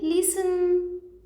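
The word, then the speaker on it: listen: आगे है लिसन, लिसन क्या सुनाई नहीं दे रहा, टी है ना, लिसन तो टी साइलेंट है इसमें।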